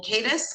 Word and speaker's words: Cadis: This is in the matter of the people of the state of Michigan versus Samuel Eugene Cadis. Is that how you pronounce it? Cadis? Yes, ma'am.